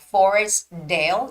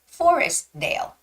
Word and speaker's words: Forestdale: so it's more like Forestdale you don't necessarily have to make the T sound so it's Forestdale don't say Forest Dale it's just Forestdale Forestdale okay hello Jennifer